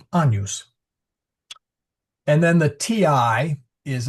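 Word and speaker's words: Agnus: It's not Agnes although the um the name Agnes uh is uh comes from the Latin Agnes but we pronounce it anus.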